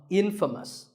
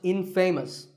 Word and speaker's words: infamous: you might just become infamous this word is the opposite of famous and it means famous for something bad but it's not pronounced Infamous it's pronounced Infamous all right I hope